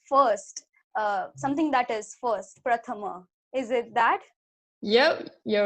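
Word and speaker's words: प्रथम: but it's pronounced as Prathama, which means first, something that is first, Prathama. Is it that? Yep, you're right. Okay. Great. It was a little different. The pra sound was different.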